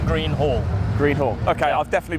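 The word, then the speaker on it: Greenhall: can you just pronounce it for me it's pronounced h a double l green hall green hall okay i'll definitely be getting it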